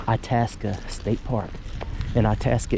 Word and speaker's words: Itasca: itasa State Park and itasa is the correct way of pronouncing it cuz I did ask somebody all this is just